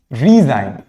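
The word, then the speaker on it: resign: For example साइन, ji silent. रीजाइन, ji silent.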